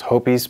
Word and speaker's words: Hoppe's: But hops, or as I think they want it pronounced, Hopis, but I've never heard it called Hopis in my life. Tell you what, I'm going to keep saying it. Like, I'm going to keep saying hops.